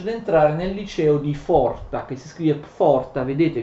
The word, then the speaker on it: Pforta: Nel 1858 Nietzsche riesce ad entrare nel liceo di Forta, che si scrive Pforta, vedete vi ho scritto alcune cose alla lavagna, che si scrive Pforta ma si legge Forta, uno dei più prestigiosi licei, uno dei più prestigiosi istituti tedeschi.